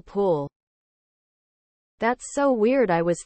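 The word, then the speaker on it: pwll: I just realized that in Welsh, W is actually pronounced like, well, a W. E.g. P-W-L-L pool.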